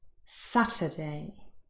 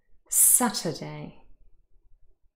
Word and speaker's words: Saturday: you to listen carefully which of these syllables is the longer and louder one saturday saturday i hope you've heard it it is the first one the first syllable is stressed here is the phonemic